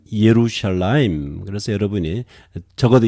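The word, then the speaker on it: ירושלים: 지원 이렇게 발음 하고요 예루살렘은 이에 루샤 라임 그래서 여러분이 적어도 이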